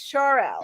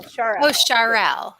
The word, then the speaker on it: Charel: Actually, it's Charel. Oh, Charel. At least that's the way I'm reading it. It's SHAR space and then EL. Yeah, Charel.